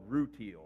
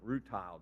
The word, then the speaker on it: rutile: And I was hunting for a mineral called rutile, or rutile, depending on how you want to pronounce it.